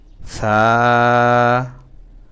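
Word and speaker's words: ثاء: তা তা তা সা, জিহ্বার আগা দাঁতের আগা লাগাবো, তাহলে উচ্চারণটা খুব নরম হবে। সা সা সা।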